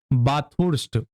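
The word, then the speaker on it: Bathurst: 1947 में ऑस्ट्रेलिया में बाथुर्स्ट, प्रोनाउंसिएशन इसका ऐसे ही होगा, कोई खास फर्क नहीं पड़ेगा, बस जान लीजिए बाथुर्स्ट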